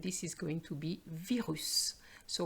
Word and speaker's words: virus: is going to be virus so we are going to pronounce the S virus same thing for the